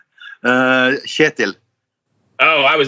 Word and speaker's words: Kjetil: So the K is silent. It's the first KJ is like a sound that you don't have, I think, but it's the same sound as Germans would use when they say ich.